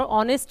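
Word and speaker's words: honest: silent भी होती है, जैसे आर के अंदर और ऑनेस्ट के अंदर एच साइलेंट है, तो हमें तो साउंड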